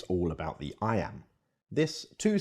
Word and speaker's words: iamb: it means the word I am is pronounced just like the phrase i am now let's expand that